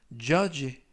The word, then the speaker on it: judge: 이번 표현은 judge, 라고 발음하시면 되겠고요. 이때 유의하실 점은 가운데 부분에 있는 알파벳 D가 이번 단어에서는 묵음이라서 발음이 되지 않습니다.